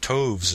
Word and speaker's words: toves: how to pronounce slithy toves. The I in slithy is long, as in writhe, and toves is pronounced so as to rhyme with groves.